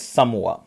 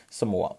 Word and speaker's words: Samoa: so exact name is samoa so in some words it will be written as someone now so guys remember it is basically pronounced as a samoa so uh who was